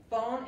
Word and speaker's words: phone: Phone es teléfono. La PH se pronuncia como la F. Phone. La E no se pronuncia.